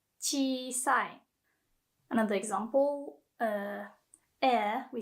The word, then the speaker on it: 小さい: So when there is another E, just the vowel E, you still pronounce it like as if it's a part of chi. So not chi, chi sai.